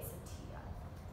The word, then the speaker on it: satya: All right, the second one under the subgroup of the yamas is satya. So it's pronounced S-A-T-I-A, satya.